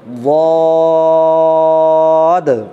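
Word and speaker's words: ض: আবার দেখেন একবার, জিভের গোড়ার দিকের কিনারা উপরের চবলের 5টি দাঁতের গোড়ার সঙ্গে লাগবে, উচ্চারণটাকে লম্বা করতে হবে, সর্বশেষে একটা দয়ে হসন্ত উচ্চারণ আনতে হবে।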